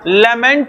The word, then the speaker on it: lamb: लेमेंट में, लेमेंट का मतलब क्या होता है? शोक गीत, रोना। इसलिए लैम LAMB वर्ड होता है, LAMB। बी साइलेंट हो जाएगा।